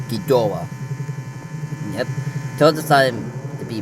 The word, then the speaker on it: Ghidorah: Ghidorah, or From an atomic Ghidra, or Ghidorah. However you want to pronounce it. Not judging. I use the pronouncement as Ghidorah.